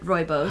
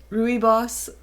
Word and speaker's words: Rooibos: We have green and red rooibos. How did you used to say it? We were trying to figure out. Rooibos. Yeah. Rooibos, I think. I think it was Rooibos. Yeah. Rubiois or something.